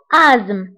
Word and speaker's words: asthme: فبالنسبة لازم انتبهوا لهذه الكلمة فتكتب ب ASTHME وتقرأ بآزم. هذه TH لا ننطقها فنقرأ آزم مع أنها تكتب ولكن لا تقرأ.